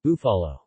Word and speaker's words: Búfalo: Búfalo, Spanish pronunciation, Búfalo, Buffalo, is a brand of hot sauce and other condiments produced by Herdez Group, Grupo Herdez, of Lomas de Chapultepec, Mexico.